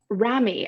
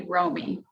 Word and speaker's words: Romy: back welcome back um ramy and please tell me if i mispronounced your name and if so how do i pronounce it correctly thanks for asking it's actually romy romy thank you yeah i'm